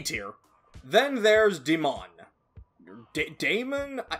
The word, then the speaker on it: Daemon: Daemon? I think it's supposed to just be pronounced like Demon, but that A always throws me off, so I always say it like Demon.